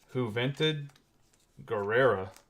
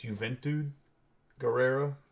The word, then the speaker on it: Juventud Guerrero: Escobar Natalya Mia Yem and we're gonna have who vented Guerrera on a sensational signatures that's going to be a 78 out of 99. I think it's juventud Guerrero that's how you say his name going to